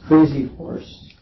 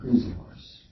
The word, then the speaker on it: Crazy Horse: It's Crazy Horse, not Crazy Horse. The emphasis on horse. It's like a first name and second name.